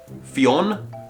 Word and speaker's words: Fionn: Fion? Fiona. I checked for how to pronounce this name and there were loads of different examples, but it's F-I-O-N-N.